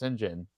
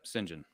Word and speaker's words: Saint John: than Mark Hazard and it's spelled out Saint John but you're like wait is that Saint John I was like it's pronounced Sinjin yep Sinjin interesting the truth of